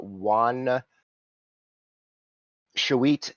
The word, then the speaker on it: Juan Shawit: If you guys want to look in the handouts for Juan Shawit is how you say that.